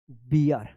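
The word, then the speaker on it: beer: यहां पे देख लेते हैं हम लोग बियर, B double E आर, इसको आप बीर पढ़ेंगे तो क्या हो जाएगा, ये गलत हो जाएगी, इसका सही उच्चारण होगा बियर।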